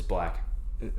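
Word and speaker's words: 6lack: How do you say, what is it, 6 Lack? It's black.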